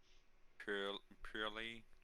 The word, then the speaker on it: Purrely: main place um so purely and that's how you pronounce it purely pure Lily here yeah um basically